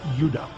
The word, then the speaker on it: Judah: More properly pronounced Judah, because we didn't get the harder sound to the J until about 200 years ago.